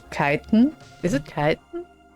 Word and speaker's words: chitin: I think it's Kiten. Is it Kiten? Because I'm German, so I say Chitin because we pronounce CH like ch. I think in English CH is like K. So it's like Kiten.